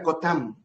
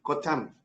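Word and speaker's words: חותם: el sello en significa cotam se escribe cotam K o t a m cotam el sello significa su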